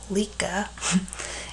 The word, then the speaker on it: Lika: His native Lika, pronounced Lika, in the Croatian Republic of what is to